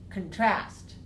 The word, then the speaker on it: contrast: AH contrast contrast and when we make use a verb and we put the stuff on the second syllable then we put the stress here on second syllable we also make this one week so we say contrast contrast yeah so I wanted